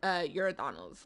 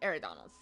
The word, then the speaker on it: Eridanos: I always call it Euridanos, like with a U. Even though it's obviously spelled with an E, I always call it Euridanos when it's actually pronounced Eridanos.